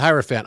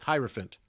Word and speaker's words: hierophant: that there's a relationship because elephant rhymes with hierophant the hierophant stage is